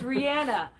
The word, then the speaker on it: Rhianna: I'm Rhianna. I'm the cameraman. Yeah. And remember, it's Rhianna, because Rhianna rhymes with banana. Yeah, Rhianna banana.